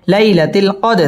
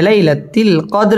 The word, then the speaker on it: ليلة القدر: লাইলাতিল কদর দাল কলকলার হরফ ধাক্কা দিয়ে পড়তে হবে। লাইলাতিল কদর এখানে ওয়াকফ করতে হবে।